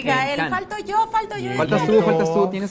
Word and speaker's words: Cannes: No, Cannes, la pronunciación es Cannes siempre. Cannes.